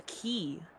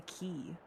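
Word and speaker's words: χ: You would call that a key. That's how you pronounce it, a key.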